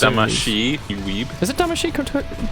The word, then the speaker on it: Damacy: That was a And good it's Damashi, you weeb.